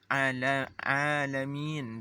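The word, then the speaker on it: عالمين: Bagaimana cara membaca alamin bifathil lam? Yaitu dengan cara membacanya dengan fatah lamun ni. Nah, alamin dengan fatah lam.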